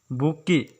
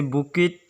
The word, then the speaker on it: bouquet: है हम लोग का वर्ड बुकी, जिसका स्पेलिंग होता है BOUQUET। इसे बुकिट या कुछ अलग से प्रोनाउंस किया नहीं जाता है, जिससे हम लोग हिंदी में लिख सकते हैं इसे BUKE, या इंग्लिश पर इसे ऐसे लिखा जा सकता है बू प्लस की। बुकी का मतलब होता है